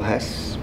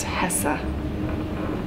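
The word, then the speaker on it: Hesse: what are you reading little Hess what it's pronounced Hessa I took a little bit of German in college right do do you like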